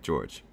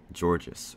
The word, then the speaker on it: Georges: is george which is pronounced just like george because the s is silent but of course kids call me georges or gorgeous i don't